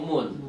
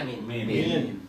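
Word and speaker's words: مِن: Berarti ketika huruf mim dan nun menjadi huruf jer tidak boleh dibaca man atau mun, dia tetap dibacanya min.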